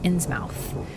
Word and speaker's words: Innsmouth: over Innsmouth by, and thank you chat for teaching me how to say Innsmouth, because I used to say Innsmouth. I don't know British pronunciation, okay? You guys skip syllables for some reason.